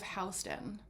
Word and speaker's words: Houston: stands for south of Hston and Hston is a main street here that runs east to west and west to east. It looks like it's spelled house uh Houston, but and that was